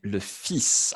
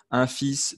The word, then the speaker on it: fils: Noé est ouais, le fils. Attention à la prononciation, le fils. Singulier, mais je prononce le S. D'accord? Un fils, des fils.